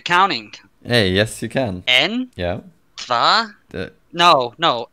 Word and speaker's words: en: En? Yeah. Tva? De. No, no. En. I know there's some weird pronunciations.